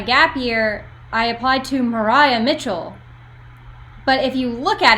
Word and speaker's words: Maria Mitchell: When I was applying for my gap year, I applied to Mariah Mitchell. But if you look at it, most people pronounce it Maria Mitchell.